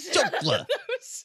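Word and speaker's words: chancla: It was a callback, George, because I pronounced it wrong. Yeah, it's chocla, right? Yeah, chocla.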